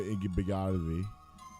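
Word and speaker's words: Igbinoghene: All right, so you heard Noah Igbenogany. That's how you pronounce his name.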